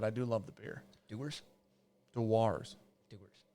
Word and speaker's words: Dewar's: You think that that's pronounced Doers? Is that the worst name in whiskey? Yeah, Doers. You know what Dewar's like? Dewars? I don't know what you want to hear. Like Mountain Dew.